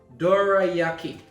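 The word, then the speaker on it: どら焼き: that knows i know this curry um it's pronounced dorayaki dorayaki so it should be interesting let's do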